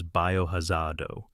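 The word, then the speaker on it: バイオハザード: In its home country, the franchise goes by the name Biohazard, written phonetically as Biohazardo. That name was always the preferred title for the creators, and it makes thematic sense.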